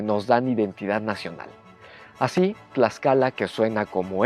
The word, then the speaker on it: Tlaxcala: Así, Tlaxcala, que suena como X, en realidad era Tlaxcala, pero se escribe con todo orgullo como se escribe México,